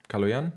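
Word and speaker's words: Калоян: So your name would be Kaloyan? Kaloyan? Yeah, yeah, the stress lands on the last syllable.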